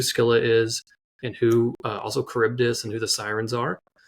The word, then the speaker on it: Charybdis: at it, you're like, wait, how do I pronounce this? So Charybdis.